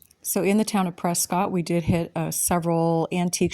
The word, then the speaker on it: Prescott: After being in this town for a little while, I did realize the locals pronounce it Prescott, not Prescott.